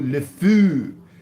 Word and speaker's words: le fou: The fou, le fou.